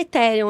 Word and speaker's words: Ethereum: Eu acho que a gente pode falar Ethereum, né? Tá ótimo, obrigado. Eu tava torcendo por isso. Meu touro da semana vai pro Ethereum, que é a segunda principal criptomoeda do mercado.